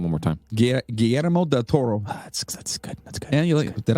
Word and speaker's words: Guillermo del Toro: yes yeah say his name one more time guillermo del toro that's good that's good did i just turn